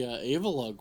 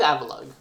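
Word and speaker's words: Avalugg: I think it's Avalug. Is it Avalug? Like Avalanche, but then Avalug.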